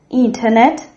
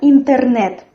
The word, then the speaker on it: интернет: The stress in this word falls on the third syllable. And as well, we have here the sound R, which is like tigers do. But not like in English, we don't fold our tongue into a crescent. We have this firm R.